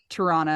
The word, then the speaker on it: Toronto: Did I say it right? Toronto. It's like piranha. Piranha.